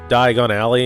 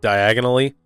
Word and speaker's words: Diagon Alley: find it odd that Harry mispronounces Diagon Alley and says diagonally like Harry's been to Diagon Alley before you think he would know how to pronounce the place Harry and Ron meet